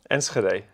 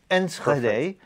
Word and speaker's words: Enschede: Enschede. Enschede. Was that correct? Yes. Enschede.